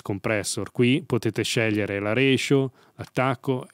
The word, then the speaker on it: ratio: Unicorn Air, dici che si dice ratio, non ratio. La parola deriva dal latino, quindi la pronuncia corretta sarà ratio, però gli americani dicono ratio e quindi diciamo ratio per convenzione.